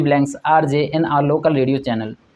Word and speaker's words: RJ: RJ का pronunciation क्या है? RJ। इसमें हमने देखा पहला जो प्रोनाउंसिएशन में पहले अक्षर का प्रोनाउंसिएशन आ से शुरू हो रहा है, जो क्या है? स्वर है।